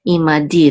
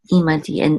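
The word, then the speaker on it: עִמָּדִי: Okay, ve'asita imadi. The accent is on the last syllable, di. Ve'asita imadi, and do with me, or deal with me.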